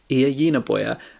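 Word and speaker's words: Ia Genberg: This book is written by Iya Yinaboya, and it's translated by Kira Josefsson, although I've probably got that wrong as well.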